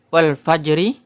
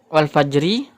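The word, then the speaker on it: والفجر: Wal fajri, apakah membacanya wal fajri atau wal fajr? Karena huruf ra ini adalah huruf yang terakhir pada ayat ini, maka ra-nya tidak dibaca.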